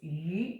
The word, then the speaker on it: 鱼: Because in China, the pronunciation of fish is 鱼. It's abundance. Okay.